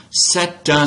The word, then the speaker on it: c'est un: I'm doing liaison, right? So I'm pronouncing the normally unpronounced T at the end of the phrase, C, and linking it into the beginning vowel sound of un or une, right?